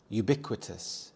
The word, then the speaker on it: ubiquitous: with anger and bitterness ubiquitous ubiquitous the stress is on the second syllable bi ubiquitous this means when everything